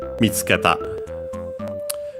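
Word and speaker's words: 見つけた: Technically, the accent will be on the tsu, because it's for the ta and te forms are on the third to last syllable. Here I'd say technically better on the fourth to last, so actually the first one, because the U of tsu is barely heard if at all, and for most people,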